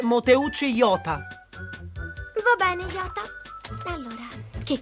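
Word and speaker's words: 弄内洋太: E tu ti chiameresti Motenai Yoda? Si legge Moteucci Yota.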